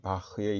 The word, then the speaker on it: Bach: 독일 사람입니다 2 독일어 이 바흐의 이름의 마지막 자음은 영어에서는 사용되지 않습니다 아 따라서 영어로 이 사람의 이름을 발음할 때는 어 지금 보고 계시는 것처럼 바 마 이렇게 있습니다 마치 우리나라의 에 박씨 성을 가진 사람의 이름과 비슷하게 읽는 다고 말할 수 있겠죠 물론